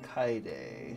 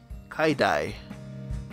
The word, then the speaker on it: Kaede: How does one pronounce Kaede? Pronunciation. How to pronounce Kaede? So K as in key, I as in lie, D as in do, I or A as in pain. Kaede. Kaidai.